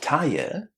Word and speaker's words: tired: Now that you know that you don't add any extra syllables to the basic verb, how would you say it if you added the duh at the end? You say tired and then you add the du tired. Tired. You can apply this pronunciation